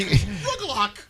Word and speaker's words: rugelach: Rugelach.